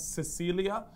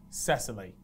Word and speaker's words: Cecily: you pronounce it, because actually in the Netflix documentary, the bloke Simon actually refers to her as Cecilia, but we've gone online, we've typed in pronunciations and different types of pronunciations for this name, and we're pretty confident it should be pronounced Cecily.